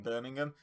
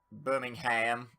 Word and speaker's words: Birmingham: think, in Birmingham, or Birmingham, as they insist on calling it. That is a place in Alabama, Birmingham. In England, it's Birmingham. It's 2 different place names, like, spelt the same, pronounced differently.